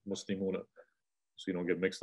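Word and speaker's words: مُسْلِمُونَ: all the vowel points, it's better to say muslimuna. Muslimuna, say and pronounce the fatha at the end. Muslimuna, so you don't get mixed up.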